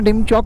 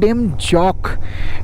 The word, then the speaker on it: ডেমজক: ডান দিকে দেখো ডেমজক, না ডেমচক না ডেমজক, চায়নার গ্রামটার অ্যাকচুয়াল প্রোনাউন্সিয়েশন হচ্ছে ডেমজক।